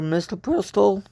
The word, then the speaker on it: misoprostol: The site reiterated that while abortion legally varies by state, mifestones in a regimen with misoprostol or misoprostol, I believe is how it's pronounced, otherwise known as a